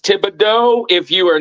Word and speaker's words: Thibodeaux: Yeah, that's pronounced Thibodeaux.